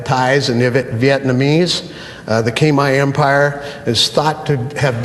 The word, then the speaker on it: Khmer: Historically, Cambodia was part of the, we call it Khmer, but they pronounce it Khmer, the Khmer Empire.